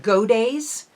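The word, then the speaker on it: Godey's: in America there was a popular magazine called goday um it's it's g-o-d-e-y apostrophe s pronounced go days ladies book and in by 1835 I believe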